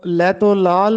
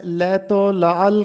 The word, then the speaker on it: لیت و لعل: لیت و لعل کرنا۔ بہت سے طلبہ اس لفظ کو لیت و لعل پڑھتے ہیں، جبکہ درست تلفظ ہے لیت و لعل کرنا۔ لیت و لعل کرنا